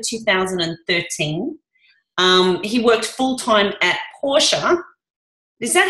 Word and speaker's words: Porsche: Yeah, we say in German Porsche. It's like an A on the end if you're an Aussie, Porsche.